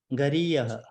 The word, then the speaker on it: गरीयः: न चैतद् विद्मकतरन्नो गरीयः गरीयः विसर्ग has to be pronounced.